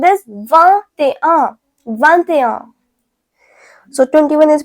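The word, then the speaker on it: vingt: So 20 is pronounced as va.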